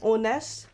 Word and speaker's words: honest: to use n because in this word the H is silent we don't say the H we don't pronounce h